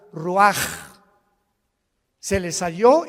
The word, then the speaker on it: Ruach: Así como suena, se pronuncia la CH en hebreo como J, Ruach.